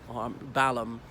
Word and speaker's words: Balham: The other thing is, usually these HAM endings in British place names, the H is silent, as in Birmingham, Fulham, Balham, and there's so many more.